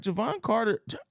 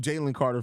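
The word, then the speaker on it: Jevon Carter: go about his work right Javon Carter I did say it right this time look I've got I got myself second guessing myself been saying calling him Jaylen Carter for so long Javon Carter is is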